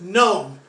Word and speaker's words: gnome: GN is pronounced gnome. We do not pronounce the G at the beginning of the word. Gnome as in Nome, Alaska.